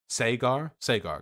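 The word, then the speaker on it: Saagar: Can somebody help me pronounce that? I saw some people criticizing me earlier in chat. Sagar, gotcha. Soigar, there you go. I'm getting a lot, Cigar.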